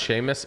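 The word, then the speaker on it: Seamus: you thanks buddy it's pronounced Sheamus all right bro okay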